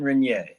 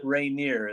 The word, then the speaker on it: Reynier: Jean Reynier, not Reynier as I call him.